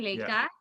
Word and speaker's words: Leka: So Leka, Yeah. like Lake Washington, Leka, Yeah.